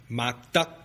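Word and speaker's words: Mock Duck: didn't even speak Mandarin his surname was pronounced Muk in Cantonese duh which ironically means morality or virtue is pronounced duck maybe you've heard of him before maybe not McDuck this guy was a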